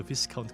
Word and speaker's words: Viscount: She could sell it at a higher price to Viscount Clint. Oh my god, flipping is merching. Viscount, by the way, that's how you pronounce it, who has been longing for this formula for a long time.